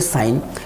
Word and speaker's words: sign: इसी तरह से हम देखेंगे साइन। साइन में क्या होगा फ्रेंड, SIGN, साइन। साइन में ये जो जी है वो भी एन के बिफोर आ रहा है, तो यहाँ पे जी साइलेंट है।